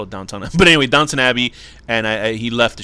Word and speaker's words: Downton Abbey: down downton abbey which i would always call downtown abbey before i realized no who cares call it downtown but anyway downton abbey and i he left the show to become